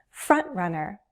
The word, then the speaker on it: front-runner: This can be written as one word or with a hyphen, but place the stress on the first syllable, front. I'm not dropping my T, I'm using a glottal stop.